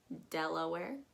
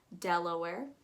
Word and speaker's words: Delaware: la where delaware uh you want to make sure that you don't again waste too much time between that e and that l delaware just kind of let it roll off dela where della where dell like a computer and where like i'm putting on like i'm wearing a shirt underneath there we have maryland um